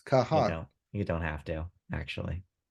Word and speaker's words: Noah Kahan: pronunciation, but it's just Noah Khan. It's Kahan. No, it's just spelled like that. There's 2 A's, so you have to pronounce both A's. Kahan.